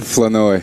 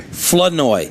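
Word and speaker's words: Flournoy: Flenoi. Flenoi. Yes, sir. So, we're taking the R out of the middle. No. Florenoi. It's French, so you guys roll your tongue a little bit.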